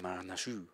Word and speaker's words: Marinescu: Floyd Marinescu? Yeah. I'm going to go with that. Yeah, I'd say add a little French kick up. Marinescu.